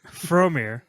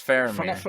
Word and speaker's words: Faramir: Fromir. Faramir. It's a V. Faramir. It's Faramir.